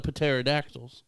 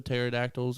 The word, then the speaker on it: pterodactyls: all these are educated pterodactyls and they want you to pronounce the p so pterodactyls oh my gosh pateradactyl thank you we're not